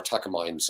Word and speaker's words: Takamine: Takamine. Takamine is all mine, all mine.